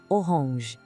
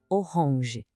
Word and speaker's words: orange: A escrita é idêntica, mas a pronúncia tem aquele charme francês. Oronge. Tenta sentir o som saindo um pouquinho pelo nariz no final. Oronge.